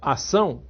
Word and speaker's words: ação: Se você prestar atenção a palavra acção se escrevia com c e c sidil quando ela passou a ser pronunciada só ação perdeu um dos CS acto passou a